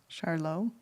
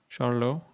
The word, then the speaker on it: Charlo: Charlo. Charlo like French.